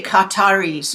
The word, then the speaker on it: Qatar: Qatar is how they pronounce it properly. But the Americans have problem with this Qatar. They say Qatar.